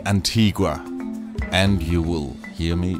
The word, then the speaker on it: Antigua: maria la antigua and in spanish it is Antigua the clip you heard